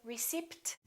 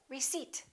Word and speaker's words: receipt: some new clothes alright silent p don't say recipt say receipt can I have my receipt psychology psychic one more